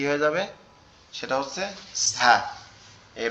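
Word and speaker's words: ز: নোক্তা দেই, তাহলে কি হয়ে যাবে, সেটা হচ্ছে ঝা।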